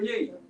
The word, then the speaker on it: Yee: Oh, Angela Yee.